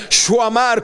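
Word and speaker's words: שָׁמַר: original es el verbo shamar, que en su fonética se pronuncia shuamar, como que tuviera una W por el medio, y su definición es guardar, guardado, guarda, cercar, guardia, para proteger, prestar atención a.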